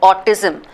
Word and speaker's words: autism: pronounce something is not the way it is spelled right for example autism that word autism I don't start with Oh it starts with a u right so it's very